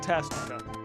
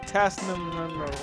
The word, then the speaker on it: Tasnica: We're calling it Tasnica. I've always kind of just called it Tasnum or Tisnakina or something.